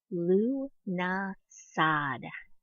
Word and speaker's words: Lughnasadh: the Sabbat with the most difficult named Luna Schad that is Lu na Saud many people have given